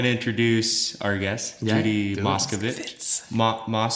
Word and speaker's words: Moscovitz: I'm going to introduce our guest, Judy Moscovitz. How do I pronounce it? Moscovitz. Moscovitz. I Was tease I it. saying Moscovitch? Yeah, that's another way of, but that's not my family.